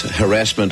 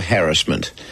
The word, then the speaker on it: harassment: Please don't get hung up whether it's harassment or harassment. I'd rather you concentrated on what we're talking about tonight rather than the way we pronounce it. It seems either is right.